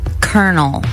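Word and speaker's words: colonel: pick and choose like the word kernel like the c o l o you like it you think it was like a k e r kernel yeah NE e l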